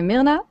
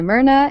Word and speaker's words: Myrna: It's you can say it in different ways. In Norwegian, we say Myrna. In English, we say Myrna. In Italian, it's probably Myrna.